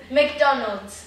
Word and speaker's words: McDonald's: McDonald's. McDonald's. Bem delicado, não é McDonald's ou McDonald's. Né? O D, esse D não funciona.